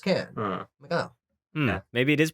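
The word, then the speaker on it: Cannes: them she's like oh I went to can and it's pronounced can oh maybe it is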